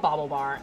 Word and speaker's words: BaubleBar: did the name come from so it's called Bobble bar and you spell that yeah b a u b l e